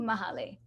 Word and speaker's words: Mahale: i just wanted to clarify the pronunciation for my name is mahali mahalo okay sorry that's